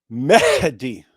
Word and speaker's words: Mehdi: It's Mehdi. You see the H there? Yeah. Mehdi. Like some people just say it like Mehdi, and then it sounds like Mehdi, and then it just sounds kind of like messed up and weird.